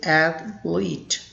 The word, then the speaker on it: athlete: the current pronunciation is at lead there are two syllables f and lead that's